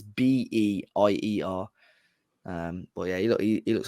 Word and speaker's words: Beier: Beier Moretti. Yeah. Spelled like that.